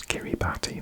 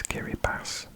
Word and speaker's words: Kiribati: share a cool info this is not to pronounce Kiribati this is Gary bass because in the local language D I mix a